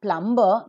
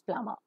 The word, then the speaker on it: plumber: society is a plumber the normal Indian pronunciation is plumber wherever you have more sound and burst sound Burr always remains silent so it is not plumber but it is plumber a plumber is a